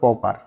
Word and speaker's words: pauper: ব্যক্তিকে আমরা কি বলবো, পপার। ঠিক আছে, উচ্চারণটা PAUPER লেখা থাকা সত্ত্বেও উচ্চারণটা হবে পপার।